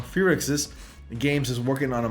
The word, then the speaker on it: Firaxis: So at Gamescom, 2K Games announced that the XCOM developer Firaxis, I'm pronouncing that wrong, Firaxis Games is working on a Marvel tactical RPG.